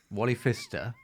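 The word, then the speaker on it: Wally Pfister: Wally Fister with a silent P is the real DP of Batman Begins.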